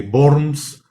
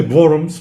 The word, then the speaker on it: Worms: bornes o de worms se escribe con w aquí pues si está por ahí nuestra mano avitia nos puede echar una manita para la pronunciación porque empiezan a aparecer muchas de las palabras que empiezan cuando veo se pronuncian como v entonces la ciudad de